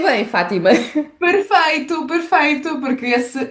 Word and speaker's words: Fátima: Pronunciei bem, Fátima.